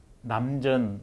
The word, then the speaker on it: 남전: 중국에 남전 스님이라고 샘천짜를 쓰는데 전이라고 발음합니다.